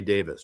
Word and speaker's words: Davies: And of course we hear that Rey calls his refers to himself his he pronounces his name Ray Davis, not Davies. But Dave, his brother refers to himself as Davies.